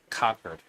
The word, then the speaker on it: Concord: Conquered. What was it? Conquered. It was the word. Yes, you're right. New Hampshire, they say conquered.